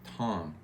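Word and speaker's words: תם: The Hebrew word for that is spelled T-A-M, but it sounds more like Tom.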